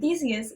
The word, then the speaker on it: Theseus: And Theseus is 3 syllables, which combined is 7.